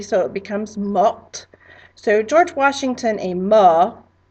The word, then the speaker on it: morte: If it's a girl, we're adding that extra E to make it feminine, which allows you to pronounce the T, so it becomes morte. So George Washington est mort, and Marie Antoinette est morte.